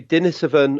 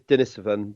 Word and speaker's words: Denisovan: conversation on this about whether it should be dinner 7 or Denisovans and the answer is Denis oven because the people that